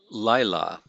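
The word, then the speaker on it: לילה: here which is lila so we have laila laila notice the accent on the first syllable here so we're going to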